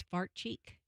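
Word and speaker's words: Farchi: Did you say his name was Fart Cheek?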